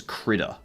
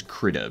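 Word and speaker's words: Krita: This is uh this is Critter. This is Critter.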